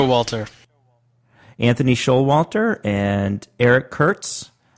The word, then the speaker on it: Showalter: Showalter.